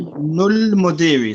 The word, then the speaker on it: ابن المدير: Ibnul Mudiri, صح? Yeah, ابن Because the dal is a moon letter. We pronounce the lam.